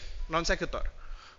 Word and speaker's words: non sequitur: Oke, that's how you say it, non sequitur.